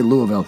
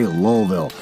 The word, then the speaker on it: Louisville: Oh, don't say Louisville, say Lowellville. If you don't say it that way, the people in Lowellville, Kentucky get real mad.